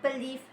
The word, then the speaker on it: believe: For example, the word believe have 2 syllables, be and live, but only the second syllable is stressed.